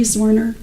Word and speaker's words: Zwerner: Uh, can you state your name, please, for the jury and then spell it for the court reporter, please? Sure. Zorner.